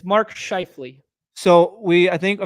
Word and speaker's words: Scheifele: multiple times then I forget it it's Mark scheifele so we I think I mean well okay